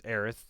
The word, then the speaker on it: Aerith: known her um like I know Eris is the original pronunciation of it but like I grew up I thought heiress was the original pronunciation but in Kingdom Hearts they call her aerith and that's how I